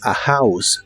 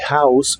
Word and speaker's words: house: y usaremos las palabras a House que significan una casa recuerda pronunciar la H de House como una J suave a House a House